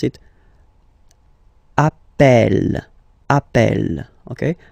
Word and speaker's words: appelle: You tend to pronounce it like E, E, really open. That's the reason why you pronounce it appel, appel, okay? Appel, appel, appel, and appel.